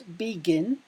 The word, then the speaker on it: begin: is a consonant and the final syllable Ginn is stressed so to add ing